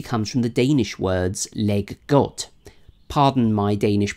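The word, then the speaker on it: leg godt: word Lego actually comes from the Danish words leg got pardon my Danish pronunciation now these words actually mean play well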